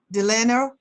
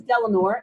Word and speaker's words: Delanor: Delano, I'm sorry if I mispronounced, from Louisiana. You want to start out, be the reporter for our group? Actually, my name is Delanor, and I'm Delanor, the one I from Kentucky.